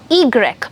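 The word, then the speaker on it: i grec: oh they X now the Y alphabet has a name yeah drastically it has it's called eagerik egrek but the sound of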